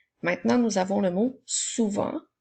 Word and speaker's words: souvent: nous avons le mot souvent ce mot-là aussi à une lettre muette à la fin alors on peut utiliser